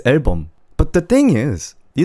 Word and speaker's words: 앨범: Album in Korean is 앨범. It's 앨범.